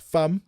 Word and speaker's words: Pham: people understand it does it is pronounced like fam the London fam fam but it's also